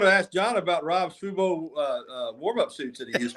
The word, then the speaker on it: Fubo: Did you call it Fobo, or what would you say? What was the pronunciation? Fubo is the TV thing. Fubu, I think, is a clothing line.